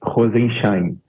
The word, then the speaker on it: Rozenszajn: Acertei a pronúncia do seu sobrenome? Boa tarde, Capês. Rosenschain.